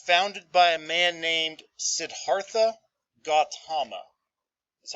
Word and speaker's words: Siddhartha Gautama: going to be founded by a man named siddhartha gautama that's how you pronounce that but he's going to grow up